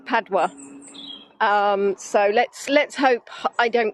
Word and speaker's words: Padua: I actually listened to Google Pronounce because I've been calling it wrong. So it's Padua.